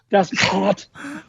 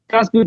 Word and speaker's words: Das Boot: Das Boot. If you're not clearing your throat, you're not saying it right.